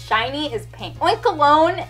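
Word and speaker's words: Oinkologne: it's shiny is pink oink alone and I think that's how you pronounce its name because it's like cologne it's a really weird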